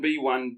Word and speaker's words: bis: writing V yep and it's pronounced B like a Killer B yep so it's uh